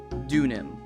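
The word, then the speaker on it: Deauxnim: uh oh let's see it is pronounced dun Nim ex Sil okay so dun Nim Miss dunam got it thank you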